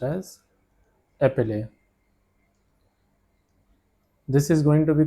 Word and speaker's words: épeler: It is pronounced as épeler.